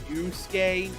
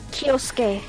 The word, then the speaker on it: Kyosuke: Not that I'm all that familiar with pronouncing Japanese, but isn't his name pronounced Kiyusuke? No, it's Kyosuke. Yeah, it's Kyosuke. And It's- Japanese is weird because Y-O-S apparently sounds the same as Y-O-U-S.